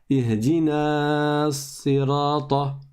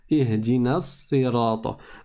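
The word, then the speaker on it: اهدنا الصراط: prononcer dans la Fatiha, jamais vous ne dites Ihdina sirata. Ihdina sirata. Non, vous dites Ihdina sirata. Donc on passe bien du noun au sad.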